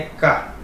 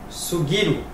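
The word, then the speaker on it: 過: Na pronúncia on é ka. Na pronúncia kun, sugiru, né?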